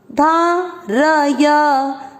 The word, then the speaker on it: धारय: त्युप, त्यू प में अ मिक्स किया, त्युप धारय, र और य दोनों अक्षर पूरे पूरे दोनों में अ का उच्चारण मिक्स होगा, धारय।